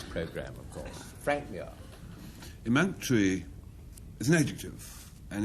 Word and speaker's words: emunctory: Yes, emunctory. I'd pronounce it like that.